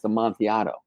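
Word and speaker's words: amontillado: a yah with a double L and it's pronounced am monato what is that I said that's a Sher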